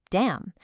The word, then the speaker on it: damn: Now, on the right, if M is followed by N, the N goes silent. Autumn, damn.